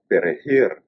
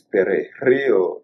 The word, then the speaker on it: perejil: The pronunciation of the J in Spanish, it's really hard for someone who is not a Spanish speaker, not a true Spanish speaker. So it's perejil.